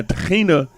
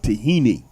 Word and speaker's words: tahina: Now tahina in English is the way it's spelled is pronounced tahini. That sesame seed paste. Now over here is tahina because that H is a chet.